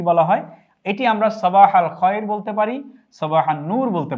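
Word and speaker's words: صباح الخير: এটি আমরা সবাহাল খয়ের বলতে পারি। সবাহান নূর বলতে পারি। বাংলা উচ্চারণটি আমরা দিয়েছি সবাহাল খায়র উত্তরে আমরা সাবাহান নূর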